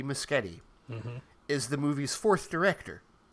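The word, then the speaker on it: Muschietti: i mean this is andy andy misgetty which we now know how to pronounce his name andy muschetti is the movie's fourth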